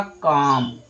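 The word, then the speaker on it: comb: तो यहां पर जो बी है ना वो क्या हो गया? B silent.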